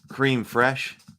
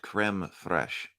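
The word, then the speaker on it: crème fraîche: fish we'll take it cream fresh or crab creme fresh thank you Sable it's pronounced creme Thresh ask your fishmonger for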